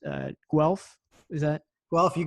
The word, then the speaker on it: Guelph: gonna forgive me if i i mispronounce uh guelph is that well if you got it well okay yeah yeah the university of guelph there you go but i i picked up